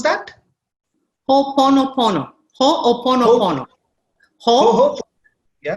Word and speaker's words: Ho'oponopono: Ho'oponopono. Ho'oponopono. Ho, yeah. ho, and then oponopono. Ho'oponopono. Just one ho.